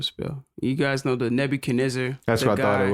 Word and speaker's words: Nebu Kiniza: You got me all insecure about how I'm pronouncing it. Nebu Kasta what? Kiniza. Oh, you were way off. I know, right? That was funny. That was very funny. Nebu Kiniza, right? Nebu Kiniza, yeah.